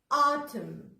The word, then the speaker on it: autumn: لو M جه على طول بعديها letter N، في الحالة دي مش هنطق letter N. تاني، لو لقيت M N مع بعض كده together، ايه اللي هنطقه؟ هنطق letter M و N ولا كأنك شايفه. زي ايه؟